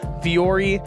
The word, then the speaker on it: Vuori: So Viore, it's spelled V-U-O-R-I. Mm-hmm.